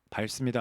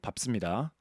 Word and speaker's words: 밟습니다: 밟습니다 아니고 밟습니다.